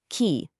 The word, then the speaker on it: QI: You have to pronounce it key like the life force.